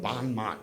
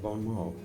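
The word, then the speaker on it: Bon Mot: a guy we had a band called bonmat which is a mispronunciation of Bon MO we played all the 1980s clubs Wong's West wangsies the music machine the club 88.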